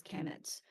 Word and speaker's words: Kemet: it's km Mt um actually spelled just pronounce this Kemet but it's actually written KNN Mt and um the last sign